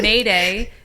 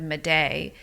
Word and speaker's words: Maday: And then Mayday is spelled Maday. And so people my whole life have said Maday. And then if you say Mayday, they throw another Y in there.